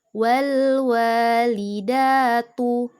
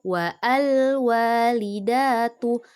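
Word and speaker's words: وَالْوَالِدَةُ: Oke, untuk contoh yang kedua, wal walidatu. Bukan wa'al walidatu. Alifnya jangan dibaca, tapi langsung ke lam sukun. Wawnya langsung ke lam sukun karena berada di tengah, oke? Wal walidatu.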